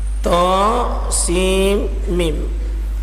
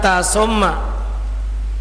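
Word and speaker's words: طسم: Tha sin mim. Ini namanya huruf-huruf al-maktua. Huruf-huruf al-maktua. Huruf-huruf terpotong. Karena cara bacanya terpotong-potong. Tha sin mim. Bukan tasumma.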